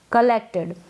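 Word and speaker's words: collected: ये जो ओ है इसका उच्चारण अ हो रहा है यानी कि क के साथ ही इसको प्रोनाउंस किया जा रहा है। कलेक्टेड, सी का क बन रहा है, ठीक है।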